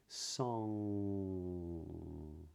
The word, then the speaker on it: song: change it right so when you say the word song you may not notice this but the back of your tongue is coming up in the back of your mouth and then it closes against the sort of back part of your pallet What's called the the uula so it sounds something like song now what you then